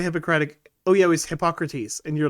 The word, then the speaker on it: Hippocrates: Oh yeah, it was Hippocrates, and you're like Hippocratus, and I'm like, shame Danny for his poor pronunciation.